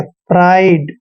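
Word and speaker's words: pride: और आर को र लिखते हैं आईडी का उच्चारण आइड करना है प्राइड प्राइड मतलब गर्व करना किसी पर ठीक है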